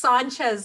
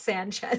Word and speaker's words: Sánchez: It's Sánchez, not Sanchez.